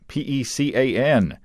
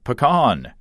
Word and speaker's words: pecan: P-E-C-A-N. It is pronounced pecan, not pecan.